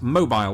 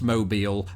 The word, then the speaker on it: Mobile: Unless you're down in Alabama where there's a city spelt exactly the same way, pronounced mobile, and that is why this word makes my brain melt through my nose.